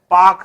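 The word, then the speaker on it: Palk: तो जो ये स्ट्रेट है इसका नाम है पाक स्ट्रेट। पाक स्ट्रेट। इसमें एल साइलेंट होता है, पाक पढ़ा जाता है, पाक। तो एल साइलेंट है, पाल्क नहीं पढ़ा जाएगा, पाक।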